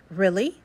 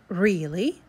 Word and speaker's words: really: get down to business pronunciation number one is really really really you can see now it has a short e now the second one really really really this one is with a long e so now tell me